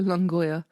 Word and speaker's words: Longueuil: And can you help me pronounce the courthouse because it's French? It's the Longueuil.